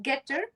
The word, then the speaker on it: Getter: Is it Getter? You got it. Perfect. Perfect. You see like gogetter.